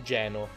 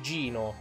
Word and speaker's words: Geno: il bambino stava giocando, Geno. Geno non è il nome corretto, la pronuncia sarebbe Gino. E in realtà non è neanche il suo vero nome, ma comunque andrebbe pronunciato Gino.